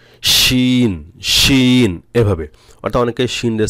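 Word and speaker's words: ش: 6 নম্বর হলো তাফাসি, এই হরফ হলো একটি, এ সিফাতের হরফ আদায় করার সময় মুখের ভিতর শা শা শব্দ হবে, শান, শিন, শিন, এভাবে, অর্থাৎ অনেকে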